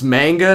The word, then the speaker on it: Manga: It's Manga, not Magna.